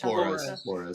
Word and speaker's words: Flores: No, yeah, I know it's Flores. Flores.